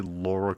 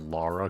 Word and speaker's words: Lara: Especially in like the US, people say Laura Croft instead of Lara Croft and that always that always tickled me. Like her name isn't her name doesn't have a U in it.